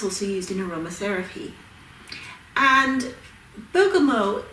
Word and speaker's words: Bergamot: It's spelled Bergamot, but the correct saying is Bergamot. It's from Italy, specifically from the town called Bergamo.